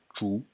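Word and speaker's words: 竹: character, which is pronounced zhu, zhu. In the second tone, it means bamboo.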